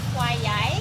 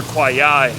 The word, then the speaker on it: Khwae Yai: When that river was mispronounced, it's actually the River Kwai Yai. Ashley just sharing tidbits of knowledge. It's actually the River Kwai Yai, but it was mispronounced during the construction of it.